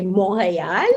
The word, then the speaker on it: Montréal: And if you were a French Canadian, you'd say Montréal. That's the correct French way of pronouncing it.